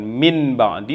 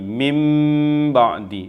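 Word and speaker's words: مِنْ بَعْدِ: Cara membacanya bukan min ba'di tetapi mim ba'di, ditahan juga 2 harakat.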